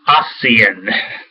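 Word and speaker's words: ASEAN: stage or aan uh that's pronounced aan normally people say it all sorts of different ways um those were those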